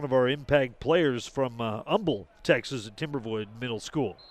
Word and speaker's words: Humble: for Terrence Gibson as we mentioned he's from Umble Texas it looks like humble but if you ask the folks down there how do you pronounce your Town's name they will say Umble with a silent age so just a little